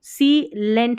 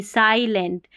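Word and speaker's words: silent: वैसे ही इसको सी लेंट नहीं, साइलेंट, ऐसे इसको टी टल नहीं, टाइटल।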